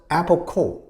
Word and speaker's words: Apple Corps: In 1968, they created a company called IPO Corporation spelled C O R P S but pronounced Apple Core.